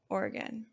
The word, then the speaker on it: Oregon: it differently but like I pronounce it like Oregon so two syllables or three orgon two or again three or again but some people say it with like Oran organ because well when we